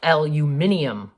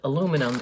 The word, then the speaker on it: aluminium: in a roll okay the British call it L you mininum which is actually the original way to say it but in in America and Canada we call it aluminum and it's spelt that